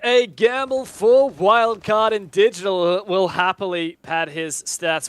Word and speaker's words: DGTL: Love you, Digital. Or DGTL, sorry, as your correct pronunciation is.